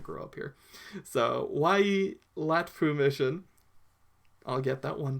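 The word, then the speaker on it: Waiilatpu: And they founded what is known as, let's say it slowly, because this is something I still have a problem saying, Wai-e-Latpu Mission.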